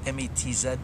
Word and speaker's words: Metz: Actually spelled M-E-T-Z, but I believe it's pronounced Metz, like M-E-S-S.